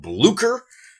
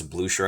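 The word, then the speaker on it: Blücher: It's called Blucer. Or maybe it's Blusher. I hear pronounced both ways. I'm probably going to say Bler just because I'm an American and I don't care how I'm supposed to pronounce things.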